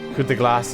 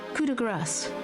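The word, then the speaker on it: coup de grâce: I never said the P. I said coup de grace.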